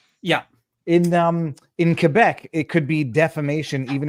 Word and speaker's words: Quebec: In the south, it's Quebec. No, no, in French it's Quebec. Quebec.